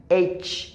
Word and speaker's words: H: এফ জি এফ জি এইচ এইচ এফ জি এইচ এফ জি এইচিটা শক্ত করে এফ জি এইচ এফ